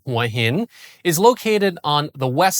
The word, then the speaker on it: Hua Hin: Huah Hin, or pronounced in Thai, Huh Hin, is located on the west side of the Gulf of Thailand, less than a three-hour drive from Bangkok.